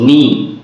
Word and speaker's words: knee: Suppose knee, K and double E, knee. Knee, we have to make silent K. K must be omitted.